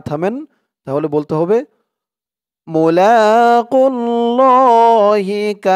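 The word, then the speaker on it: مُلَاقُو اللَّهِ: খাড়া জবর আন্নাহুম মুলাকুল্লাহি এখানে থামলে উচ্চারণটা হবে মুলাকুল্লাহ এই খারা জবর এক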